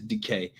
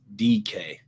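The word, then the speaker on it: Dike: Yeah, it is DK. My bad, bro. I really didn't mean nothing by it. I didn't know. I'm just looking at the phonetic, the English pronunciation respelling. Brutal. Chimere DK.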